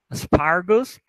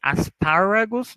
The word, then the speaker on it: aspargos: Aspargo, aspargos. Não pronunciem aspáragos, tá? Vai ser como se não tivessem esse A.